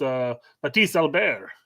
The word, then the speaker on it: Mathis Albert: But basically, it's pronounced Mathis Albert. Yes. His mom's French and his dad's German.